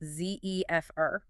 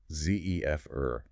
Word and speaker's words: zephyr: Zephr, pronounced zefr. Zefr. The word itself even sounds soft, doesn't it? Matching its meaning.